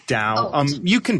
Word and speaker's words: Tao: o d AO it's Tao it's pronounced Dow um you can pronounce